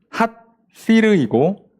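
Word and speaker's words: הסיר: 이 손 밑에서 가시나무 타는 소리라고 돼 있는데 왜 이렇게 돼 있냐면 솥이라는 단어랑 가시나무라는 단어가 발음이 유사합니다. 솥은 핫시르이고 가시나무는 핫시림이에요.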